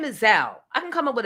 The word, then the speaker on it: Zelle: Who says stop calling it Zelly? It's Zell, rhymes with Bow.